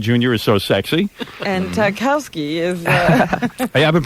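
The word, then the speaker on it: Tchaikovsky: that why JFK Jr is so sexy and takowsky is hey I've been pronouncing that wrong I thought it was chai Kowski I didn't know that all right I got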